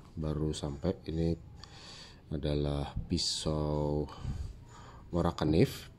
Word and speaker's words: Morakniv: Ini adalah pisau Morakanif, panggilannya di Swedia itu ya Morakanif gitu ya. Dia menyebutnya, pronounce-nya.